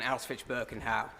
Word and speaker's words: Auschwitz-Birkenau: We also visited Auschwitz and Auschwitz-Birkenau, where we... What the fuck? How have you managed to mispronounce both of those places so badly?